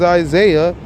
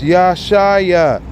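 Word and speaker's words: ישעיה: Right here where it says Isaiah, it's Yeshaya.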